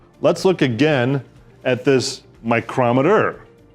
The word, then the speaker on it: micrometer: And speaking of microns and micrometers, let's look again at this micrometer. A word that happens to be spelled the same as micrometer, but pronounced differently.